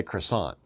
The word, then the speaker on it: croissant: two French Americans say croissant but the French would say Chris all okay because it's a different language and they don't pronounce all of their letters that's that's French okay